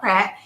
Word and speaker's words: Peart: I'm doing well, and it's pronounced Peart. A lot of people pronounce it wrong, but it's fine.